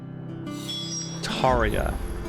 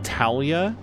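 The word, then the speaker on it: Tarja: Taria. And the way that they say it would make me think it was Talia, but it's Taria with like an extra syllable between the R and the J.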